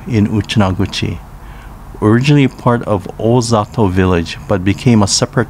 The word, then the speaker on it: Ozato: merger of four towns sashki chinang tamagusuku and ozato pronounced sashi chining tamagushku and ufujatu respectively in uchinanguchi town pronounced yeyesei in uchinaguchi was formed in 2006